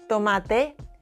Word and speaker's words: tomate: Patata, tomate, casa, without the English puff.